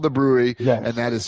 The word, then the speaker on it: Bruery: There's literally they're just called the brewery and that is spelled B R U E R Y.